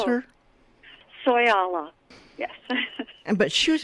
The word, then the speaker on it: Soyala: daughter of the desert is that how you pronounce her soy Allah yes and but she was a wonderful person